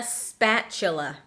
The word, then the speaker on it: spatula: Notice how it's spelled with a T, S-P-A-T-U-L-A, but the T, as you might know, sometimes makes that ch sound, especially when it comes in the middle of a word.